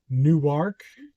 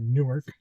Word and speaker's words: Newark: So now we're going to Newark, is how the locals say it. I'm from New Jersey, so I call it Newark.